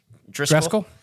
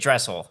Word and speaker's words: Dressel: Jake Driscoll. Jake Driscoll? No, Jake Dressel. Let's say it right.